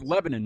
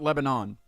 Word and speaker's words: Lebanon: so yeah there was okay so it's Lebanon not Lebanon yeah Lebanon yeah I can't say it like that I feel weird that's